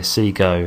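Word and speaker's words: Segoe: that there let's see go let's see yeah see go it's pronounced okay so we've got ourselves downloaded of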